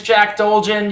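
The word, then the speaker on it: Jack Dolgen: it's wrong jack dulgin it's my name is jack dulgin you can call me peter and i oh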